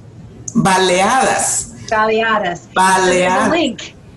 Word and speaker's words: baleadas: Baleadas? Baleadas.